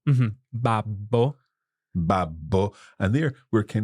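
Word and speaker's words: babbo: another way is to pronounce the double letters more forcefully okay okay um so for example uh the word for Dad one of the ways to say that in Itali is Bab babo mhm babo babo and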